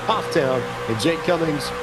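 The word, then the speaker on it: Pfafftown: For those familiar with Northwestern and maybe Central North Carolina, looks like Pathtown is pronounced Pufftown.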